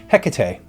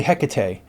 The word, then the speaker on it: Hecate: I've done a video about her, Hecate. I say Hecate. Some say Hecate. Some say Hecate. And you've got yourself a regular chorus of variations here.